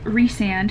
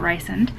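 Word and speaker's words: Rhysand: have met the infamous resand who i hate that it's pronounced resand and not rice and but we have met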